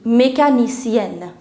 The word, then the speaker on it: mécanicienne: Mécanicienne.